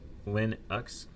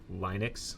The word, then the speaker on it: Linux: Linux should be pronounced lin x with a short i not linux.